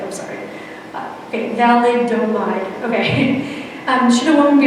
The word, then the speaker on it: thalidomide: Okay, thalidomide, okay.